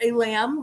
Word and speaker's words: Aylam: And the only way I learned how to say it was I thought in my head, it's like a lamb, like ba lamb, but with the accent, like alam.